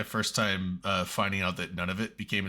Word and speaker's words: Nunavut: I'm like, they just pronounce it none of it.